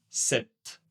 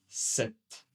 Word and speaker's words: sept: Vous ne prononcez pas le P, mais nous allons prononcer le T. Sept. Sept.